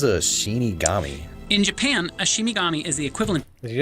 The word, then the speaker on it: Shinigami: In Japan, a Shimigami is the equivalent... Did you just pronounce it wrong? Shimigami?